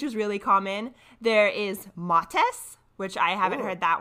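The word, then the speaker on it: Mattes: as of yesterday I had been calling it Matt's pad so sometimes I if I say Matt's pad or Mattis pad I'm referring to the same thing now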